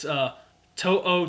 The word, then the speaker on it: To'o: Oh, I found a pronunciation guide on it. It's To'o.